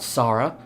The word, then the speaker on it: Sara: It's pronounced Sarah, not Sara.